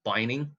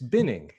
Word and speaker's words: binning: that word sometimes because I pronounce it as bining yeah no that sorry because you put it in a bin not a Bine it's binning it's literally going in